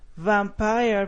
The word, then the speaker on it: vampire: and communicative skills five vampire bats vampire bats I want you to to be more aware of the V because we don't want it to sound like a b not vampire bats but